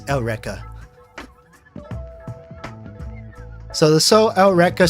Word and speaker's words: Eureka: of you that don't know seven like yeah it's spelled Eureka Seven but it's not Eureka it's elrica so the soul outrika 7 is pronounced differently